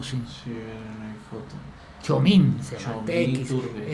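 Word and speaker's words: Txomin: Chomín, se llama Chomín TX. Iturbe. Es que la TX Ya, te pronuncia CH, como el Ochoa TX.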